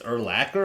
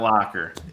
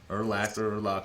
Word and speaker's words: Urlacher: It's Urlacher? I thought it was Urlacher. Urlacher. It's not Locker. Really? Did you know that? Okay. Yes. I did not know that. Okay, well, Urlacher, whatever.